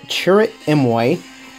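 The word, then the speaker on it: Chirrut Îmwe: got to look at churr mway churr mway this is is the correct pronunciation of his name and he has his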